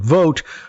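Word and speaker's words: Vought: Vote, whose name is pronounced vote, by the way, and I am pronouncing it correctly, but thank you for the pronunciation guide.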